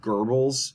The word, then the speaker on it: Goebbels: This is Joseph Goebbels, or Goebbels. It's pronounced Goebbels in German. There's like a silent R in there.